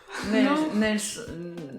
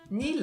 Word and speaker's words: Neil: Nels Ah. Armstrong. ». Oui, Alors la prononciation... réessayez de la prononciation. Armstrong. Je suis jamais Armstrong. Neil.